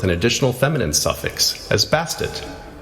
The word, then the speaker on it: Bastet: additional feminine suffix as bastet the name change is thought to have been added to emphasize pronunciation of the ending t sound often left silent cats in ancient egypt